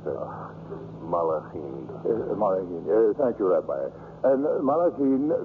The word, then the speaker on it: Malachim: Gedushim, the holy ones, and how do you pronounce it? Malachim.